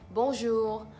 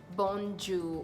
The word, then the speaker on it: Bonjour: could just use different intonations but then it's Bonjour let's pronounce it together bomb jew-bomb sure it has a nasal sound between the O on the end so instead of saying bond Jew or bonds you actually bozo bozo bozo bozo